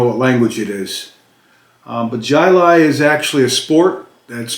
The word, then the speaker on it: Jai Alai: i got out of work um this is pronounced uh jylai this j-a-i-a-l-a-i is pronounced jilai and i had to look it up because i've never heard i didn't even know what language it is but jilai is actually a sport that's played originated and